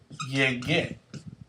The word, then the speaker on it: llegué: Yo llegué. You have to insert the U to keep the G sound.